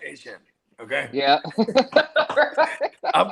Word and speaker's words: Etienne: He's like, listen, it's pronounced, it's not Etienne, it's pronounced Asian.